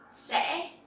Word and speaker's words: sẽ: So here you will see that the tone is dấu ngã, and you will have to pronounce very clearly to make this sound correctly. If not, it will sound like dấu sắc.